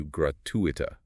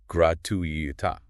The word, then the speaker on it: gratuita: Apparently, the Minister of Education pronounced it incorrectly, stressing the gratuita.